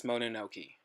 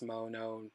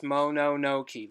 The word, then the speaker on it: Mononoke: we might even try and talk about Princess Mononoke. Is that the right title? Yes. Princess Monokono? Yeah, sure. Monokono. God, I think I said it right the first time. Yeah, you did. Princess Mononoke.